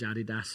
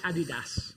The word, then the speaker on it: Adidas: They're made by, in my language, Adidas for you guys. Adidas, how do you say that? I like Adidas. Adidas.